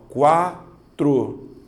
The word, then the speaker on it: quatro: na de baixo ó quatro duas sílabas Observe você fala quatro ou quatro quatro certo você faz igual a mim então nós estamos certos certo então a letra u é pronunciada então eu tenho semivogal